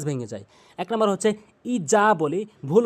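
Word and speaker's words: إذا: উচ্চারণ আমাদের বলতে হবে ইজা জিহ্বার আগা দাঁতের আগা নরমালি হালকা করে ইজা বলতে হবে ইজা বলা যাবে না এই জিম এই জালের জায়গায় এই জিম আনা যাবে না জালের জায়গায় জালি উচ্চারণ করতে হবে ইরা জিম আলিফ জবর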